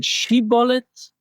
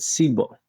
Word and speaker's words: shibboleth: And it just so happened that these two tribes pronounced the name of the plant, shibolet, in a different way. One of them said shibolet, and one of them said sibolet.